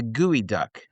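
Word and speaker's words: geoduck: But one thing that one creature that exists in Washington in particular in the Puet Sound is the gooey duck.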